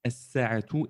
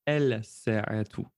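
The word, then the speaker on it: الساعة: défini elle, eh bien, nous ne prononcerons pas le lem de l'article défini alif lam. Nous dirons as-sa'atu et pas el-sa'atu.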